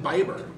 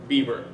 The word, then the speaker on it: Bieber: million views away from being the next justin biber Bieber it is pronounced Bieber but Canada the yummy sons as